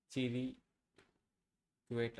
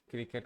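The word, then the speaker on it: cliquet: The word clique is pronounced with a strong C sound followed by the sounds li and ket as in click it. The li is a short I sound like in sit. Okay.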